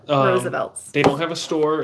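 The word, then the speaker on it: RSVLTS: never heard of it, called Roosevelt Shirts. It's spelled R-S-V-L-T-S. Yeah. Roosevelt's.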